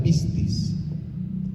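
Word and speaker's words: πίστις: Testamento se utiliza una palabrita griega que se pronuncia pistis pistis y es lo que ya decíamos pistis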